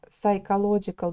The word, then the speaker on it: psychological: Такое длинное слово, не забывайте его еще и произносить правильно, да. Пи не произносится. Okay, so for some people, the cameras have a psychological benefit, taking comfort in